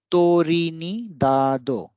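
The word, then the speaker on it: トリニダード: So Trinidad will be Torinidado, Torinidado.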